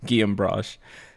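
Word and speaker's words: Guillaume Broche: Guam brush. That's how you actually say it.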